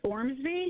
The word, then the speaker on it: Ormsby: you say it anyway I apologize uh it's Ormsby o r msby y named after John Ormsby